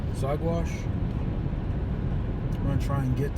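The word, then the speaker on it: Saguache: Headed up to, I think it's pronounced Zagwash.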